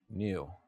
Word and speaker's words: knew: new sort of sound I just say new like I knew that's how I pronounce